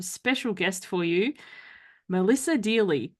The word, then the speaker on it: Deally: guest for you Melissa Dey rhymes with really so that's how you